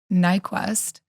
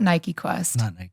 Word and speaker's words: Nyquvest: We're sitting down with Nyquvest, not Nike Quest.